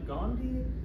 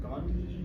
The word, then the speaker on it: gondii: It has no good pronunciation. There's at least 3 valid pronunciations from gondii to gondii to gondii.